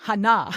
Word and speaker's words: Hannah: It's not Heather. Hannah. Hannah is how I pronounce her.